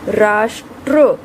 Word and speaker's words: राष्ट्र: आप यहाँ उच्चारण करके देखें, राष्ट्र, ट्र, पहले ट की ध्वनि आ रही है, फिर र की ध्वनि आ रही है।